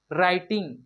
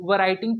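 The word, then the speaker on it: writing: राइटिंग, इसे हम लोग वराइटिंग पढ़ेंगे तो गलत हो जाएगा, क्योंकि डब्ल्यू साइलेंट है दोस्तों।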